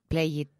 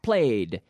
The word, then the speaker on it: played: he played golf yes you cannot say play it like it's not a d yes played if there's a D but not an extra syllable ok so he every day I play yesterday I played played play not play good ok played played you have to force that D sound into the same syllable played at home played